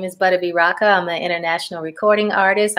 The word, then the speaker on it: Butta B Rocka: going to talk about we have with us butta b raka how are you did i pronounce that right you did i am doing